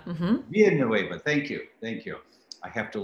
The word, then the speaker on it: Villanueva: Villanueva. Mm-hmm. Villanueva. Thank you. I have to learn more Spanish to pronounce it correctly.